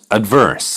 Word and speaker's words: adverse: 이번 단어 보니까 뭐였습니까? 염더 verse, 염더 강세가니까, 염더 the 사운드가 얼만큼 나오는가 한번 들어보세요. adverse, 그죠? 염더 여기서 adverse에서 염더 크게 강조는 안 되죠.